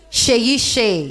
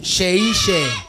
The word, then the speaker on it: Seyi Shay: Like shea butter. Uh-huh. Yes. So Seyi Shay. Seyi Shay. Seyi Shay. In Nigeria, when you see an S before another letter, it's normally pronounced sh.